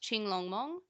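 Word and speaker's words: Qinglongmon: And Qing Long Mon, which is how I said it, is pronounced Ching Long Mong.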